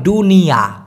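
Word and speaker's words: dunia: বলতে প্রায় সেম দুনিয়া এই দুনিয়াকে মালয়েশিয়ান ভাষায় বলা হয় দুনিয়া মানে দ এর জায়গায় ড উচ্চারণ করতে হবে দ এর জায়গায় ড দুনিয়া সেম রাজা রাজাকে মালয়েশিয়ান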